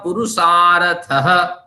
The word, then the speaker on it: पुरुषार्थः: अथ त्रिविध दुखात्यंत निवृत्ति रत्यंत पुरुषार्थः। अब इस तरह जहां विसर्ग होता है उसको हम हल्के से हलंत वाला ह उच्चारण करते हैं, रत्यंत पुरुषार्थः, इस तरह हैं।